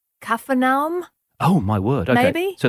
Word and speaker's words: Capernaum: might be something like kafam oh my word okay so the p is not a hard P but yeah well there's no p in Arabic ah which is a